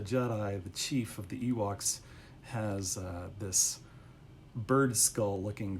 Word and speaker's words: Ewoks: It just kind of fit because Ewoks rhymes with Seahawks.